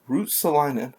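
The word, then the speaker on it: Ristolainen: goal total from r2 rue rustalanin root stolon root salina i believe is how they pronounced it from rasmus and also rasmus aspalin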